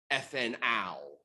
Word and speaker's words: ethanal: So, as far as like proper pronunciation goes, we'd be talking about methanal, ethanal. We're going to really hammer that al at the end instead of all, because we don't want to confuse it with an alcohol.